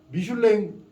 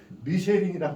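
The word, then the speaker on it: Michelin: 우리가 미슐랭 프랑스 말 말고 영어 발음은 미쉐린이라고 합니다. 미쉐린 타이어 회사입니다.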